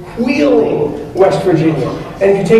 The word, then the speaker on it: Wheeling: actually pronounced that way it starts with an HW it's Wheeling West Virginia and if